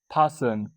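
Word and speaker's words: fasten: फासन। फासन मतलब बांधना या फिर कसना। इसमें जो टी होता है वो साइलेंट होता है।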